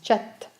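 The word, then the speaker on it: kyat: conduire manille la monnaie et le 4 on prononce chat cette carte régime le tour que nous avons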